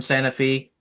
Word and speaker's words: Santa Fe: So Um, my character is quite literally just basically from Santa Fe, Tennessee, Yep. where everybody pronounces it the wrong way. It's, Santa Fe.